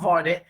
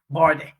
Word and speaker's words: Vardy: Jamie Vardy, not Vardy, Vardy.